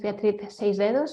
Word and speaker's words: Beatriz: who is talking so yes my name is Beatrice as very well with pronounced by Christopher um so um for those